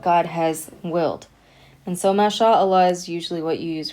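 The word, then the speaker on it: ما شاء الله: And when we pronounce it, we're saying ma sha Allah. That's why we're saying it connected.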